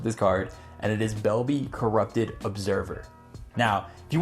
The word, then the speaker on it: Belbe: But now getting back into Belbe, and I think it's pronounced Belbe, but you know, I call her Bel-bae because I just love her so much, and it is just such an exciting card.